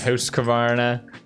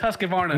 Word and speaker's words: Husqvarna: you're gonna fix it no mispronunciation of host covarna all right okay you're going to jump so many comments in that video everybody like it's husqvarna no you're going to